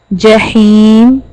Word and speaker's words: جحيم: Ja, Jahim. It is very simple. This is your middle part of the tongue and touches to the hard palate. Okay? To pronounce ja, ja.